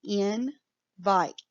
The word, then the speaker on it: invite: So that E at the end of this word makes that I say its name. So this word is invite. It's a two-syllable word. Invite.